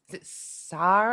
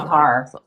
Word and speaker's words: Sahar: Sar, I always mispronounce your name. It's good to see you, Sahar. It's It's Sahar.